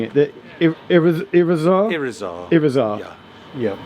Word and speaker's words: Irizar: How are we pronouncing it? The Irizar?